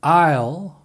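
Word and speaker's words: aisle: 않는 말 더 보겠습니다 아요 아 아 요 아 아 요 비행기 객실에 통로를 말하죠 아이소 일이 아니라 아요 이라고 합니다 아요 이건 아이온 2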